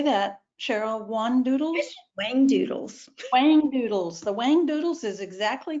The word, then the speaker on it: Whangdoodles: Whangdoodles.